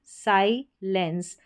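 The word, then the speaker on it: silence: साइलेंस एस आई को साई पढ़ा। ठीक है? और फिर एल जुड़ गया। इस ई एन सी ई में लेंस बन गया।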